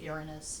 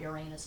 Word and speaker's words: Uranus: I pronounce it Uranus, not Uranus, not Uranus.